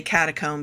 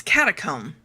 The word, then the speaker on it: catacomb: It ends with the same word. Why would they pronounce it differently? It's catacomb, not catacomb.